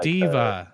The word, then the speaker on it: D.Va: Because I was playing Overwatch the other day, and I'm like, yeah, I'm going to be DVA, and they're like, who? And they're like, oh, Diva.